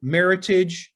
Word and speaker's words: Meritage: the name meritage incidentally the word meritage comes from the word merit which refers to the noble grapes and the heritage which refers to the history of the bordeaux region so together meritage is how the word